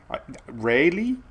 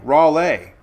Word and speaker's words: Raleigh: Raleigh. Now she you spelled it lei. L E I G H is lei. So raw le rally rai.